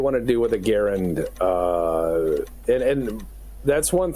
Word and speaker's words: Garand: Garand, he's a Canadian. Okay, Gar. So the pronunciation from the family is Garin.